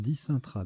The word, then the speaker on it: Dicentra: Ça se prononce dicintra d'ailleurs. Voilà, donc pas mal de